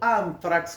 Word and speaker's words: Anthrax: bonus track y de Antrax o anfrax, como se pronunciaría, eh, Este en el idioma inglés, pero yo voy a decirle antrax.